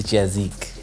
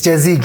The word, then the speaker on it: JazziQ: we even start anything it's Mr jazik it's jazik yes it's like music yeah but music is spelled with IC yes when are you